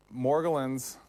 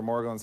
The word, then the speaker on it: Morgellons: Okay, morgellons, or morgellons, however you want to pronounce it, appears to be a tiny worm-like machine that operates in ways that are amazing.